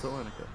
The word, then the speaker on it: Selenica: I don't know if it's pronounced that way, but I'm calling you Selenica. You got it right. That's Selenica.